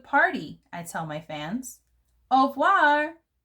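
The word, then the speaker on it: au revoir: i tell my fans au voir you say it like this that's french for goodbye on my door i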